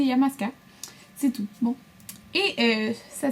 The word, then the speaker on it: Illamasqua: Donc il y en a qui disent Illamasqua, peu importe là, mais moi je dis Illamasqua.